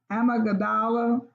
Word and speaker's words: amygdala: The hippocampus, which works closely with the amygdala, the brain's fear center. I may be mispronouncing that, but it's AMYGDALA.